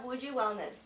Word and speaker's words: Wuji Wellness: So Tashi, you have Wuji Wellness.